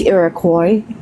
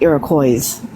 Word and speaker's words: Iroquois: Okay, so my only correction in any way was it's Iroquois, not Iroquois. The S is silent. It's French.